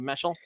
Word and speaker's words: Meshel: Is that how you say it, Meschel? Yes, sir.